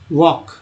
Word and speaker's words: walk: या LK से क होता है, LK से क होता है, इसका मतलब होता है कि WALK वॉक। ये सब साइलेंट लेटर है, यहाँ L साइलेंट है, G साइलेंट है, यहाँ L साइलेंट है ना।